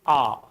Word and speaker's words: hour: Uh everybody knows that H is silent.